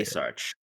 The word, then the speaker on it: Asarch: Uh Stephen actually wait I'm not sure if I've ever learned how to pronounce your last name. How do you say Asarch?